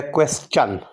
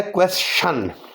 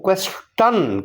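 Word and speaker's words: question: پہلا جو ورڈ لکھا ہوا ہے یہ ہے کویسچن۔ ٹی آئی یہاں چے جیسی آواز پیدا کر رہا ہے، کویسچن۔ اس کی ایک صورت ہے کویسشن۔ کچھ امریکن اس کو شین کی آواز کے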